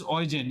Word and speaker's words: Eugen: But the interesting part is, there was another scientist, German, whose name was Eugen, we pronounce it as Eugen, E-U-G-E-N, Goldstein.